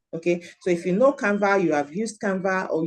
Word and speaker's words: Canva: needed to say so what is the canva the canva is an app canva is an app it's spelled c a NV a so if you have